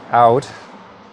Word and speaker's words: Owd: Apparently it's pronounced Owd. I've got an Owd Betts bitter, I think it was.